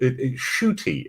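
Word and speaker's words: Ncuti: to get and um shooty is how you pronounce um which is delightful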